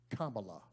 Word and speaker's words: Kamala: hallelujah the people have spoken joe and kamala camilla or however name your pronouncer but the correct spelling and connect the correct pronunciation is kambala all right joe and kamala will get the